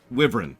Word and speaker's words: wyvern: but also on opinion pronounce wyvern different ways over the years but the way I usually hear it pronounced is wyvern which is why I do it that way oh yeah sure